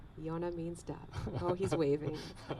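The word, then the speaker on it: יונה: to say dove in hebrew he's not answering yonah yonah means dub oh he's waving we do have a yonah here well okay it's getting dark and we're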